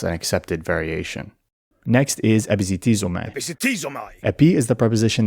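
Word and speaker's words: ἐπισιτίζομαι: Epizitizomai. But for the reconstructed ancient Greek pronunciation, it's commonly taught as a zd or a dz combination.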